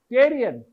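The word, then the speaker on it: pterion: this point is called Tyrion PPE not t only p t e the p is silent Tyrion I told you this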